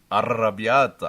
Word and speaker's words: arrabbiata: Yeah, you're not rolling your R though. You got to roll your R's like this, like. Grrr. Can you do that? Arrabbiata. Oh, that's better.